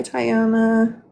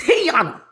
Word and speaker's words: Tiana: Hi Tyiona. She going to correct you and say it's Tiana.